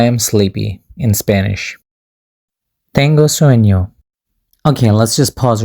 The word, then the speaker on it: sueño: Let's just imagine that snake mark as letter Y. Because the way we actually pronounce it is tengo sueño.